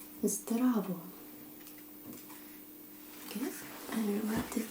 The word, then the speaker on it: zdravo: If you meet a friend, you will most likely say Zdravo.